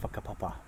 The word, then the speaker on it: whakapapa: It sounds like kind of incest, but it's WHAKAPAPA. I think I'm not very good at spelling things without writing them down. As WH is pronounced as F.